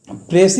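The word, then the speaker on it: précis: देखिए यहाँ पर प्रेसी में PRECIS। ऑलवेज लोग क्या करते हैं ना कि इसका प्रोनाउंसिएशन ही मतलब कि गलत करते हैं। एस इसमें साइलेंट रहेगा, S will be silent hair and the right pronunciation is प्रेसी।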